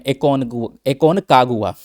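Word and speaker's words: Aconcagua: Mount एकोनगुआ के बारे में, एकोनकागुआ इसका पूरा नाम है, प्रोनाउंसिएशन ऐसे चलता रहेगा तो ध्यान रखिएगा।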